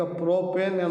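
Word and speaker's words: propyne: ಪ್ರೋಪೈನ್ ಅಂತ ನಾವು ಕರೀತೀವಿ ಅಂತ ಬರೀಬೇಕು ಉಚ್ಚಾರ ಮಾಡಬೇಕಾದರೂನು ನಾವು ಈ ರೀತಿ ಕರೀಬೇಕು ವಿದ್ಯಾರ್ಥಿಗಳೇ alkyne alkane N ಪ್ರೋಪೇನ್ alkene ಇನ್ ಪ್ರೋಪಿನ್ ಆಲ್ಕೈನ್ ಐನ್ ಪ್ರೋಪೈನ್ ಅಂತ ನಾವು ಉಚ್ಚಾರಣೆ ಮಾಡಬೇಕು ಬರೀಬೇಕಾದರೂನು ಆತರನೇ ನಾವು ಬರೀಬೇಕು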